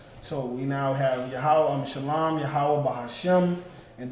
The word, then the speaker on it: Yahweh: So that Wa and Ha becomes Wa. So it's Yahweh. That's correct. Yahweh. In the Hebrew, that's how you say it.